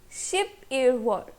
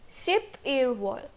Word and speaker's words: 십일월: So November being the 11th month is pronounced as 십일월. 십일월.